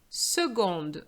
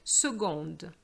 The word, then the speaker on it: seconde: Seconde, so be careful, the C changes pronunciation here and you have you're going to use the G sound. Seconde.